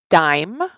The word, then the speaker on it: dime: it like this a dime that's dime with that silent E we're at dim Dime dime is 10 cents and